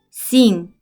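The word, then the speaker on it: sing: 그런데 N과 G가 합쳐지면 새로운 소리인 응 소리가 돼요.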